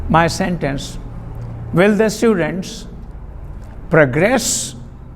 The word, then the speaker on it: progress: of studies progress progress be mindful of this stress mark this short vertical mark vertical line okay progress emphasizing the second syllable using the word as a verb will the students progress